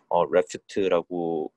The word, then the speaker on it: RAFT: 오늘 제가 가져온 논문은 역시 옵티컬 플로우 논문인데, 레프트라고 읽더라고요.